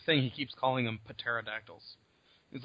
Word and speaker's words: pterodactyls: he keeps calling them pterodactyls he's like the p is silent actually no one was